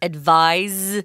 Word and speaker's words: advised: listening carefully you heard Tom pronounced the verb as advised with a Z but the noun form is an S sound advice it's also spelled